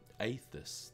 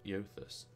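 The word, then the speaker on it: Eothas: give you some idea aethus that's how I pronounced it not Yothers aethus right okay then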